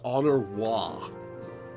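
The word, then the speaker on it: Honoroit: This kid's name is Honor Wah. That is entirely how it's pronounced.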